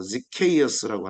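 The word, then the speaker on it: Zacchaeus: 이 삭개오가 영어로는 철자도 어렵고 발음도 좀 힘들죠. 지케이어스라고 하는 건데 지케이어스.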